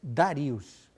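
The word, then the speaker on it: Dariusz: Yo he pronunciado el Darío en castellano, pero estaba escrito también en polaco, que es Darius. Exactamente, como el rey de Persia, Darius.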